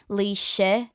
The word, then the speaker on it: Laoise: I hate having to write it phonetically in English because there's no vowel to like get the perfect ending on it, because it's more like Laoise. So it's nearly like IH AH ending, but amalgamated.